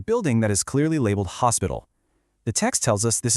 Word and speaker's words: hospital: We have the estasion policia, the police station, theatro, the theater, the hospital, spelled exactly the same as in English, but remember with a silent h, the marcado, the market,